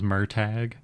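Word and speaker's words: Murtagh: just finished reading um I know the real pronunciation is merag but I in my head say MOG um MOG by Christopher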